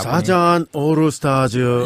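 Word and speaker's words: サザンオールスターズ: 이게 일본 발음으로 해야지 예. 또 와닿습니다. 사잔 오르스타즈.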